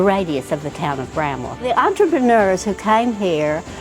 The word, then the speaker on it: Bramwell: The way this town looks like it should be pronounced is Bramwell, but locals drop the W and it's pronounced Bramwell.